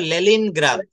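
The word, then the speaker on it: Leningrad: কেমিস্টার আর্কিটেন্ড researcher business লে লেলিন গ্রা উচ্চারণটা হবে লেলিন গ্রাদ রাশিয়ার একটা জায়গায় লেলিন আলফ্রেড নো ফাদার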